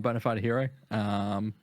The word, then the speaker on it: BonaFideHiro: Yeah, so I'm BonaFideHiro. It's just exactly the way it's spelled, but it's an I in hero instead of an E.